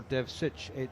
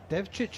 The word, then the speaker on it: Devcich: Cricket Anton devit or Dev sich devit is the Croatian version I believe and Dev sich is the New Zealand version so if you hear me and John Norman pronouncing anon's surname differently they're both correct and both acceptable appar both acceptable thank